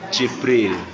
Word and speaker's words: Jibril: Gabril. Tulisannya Gabril. Bacanya Jibril.